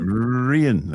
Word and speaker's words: Rian: Rian, which is Ian with an R at the front.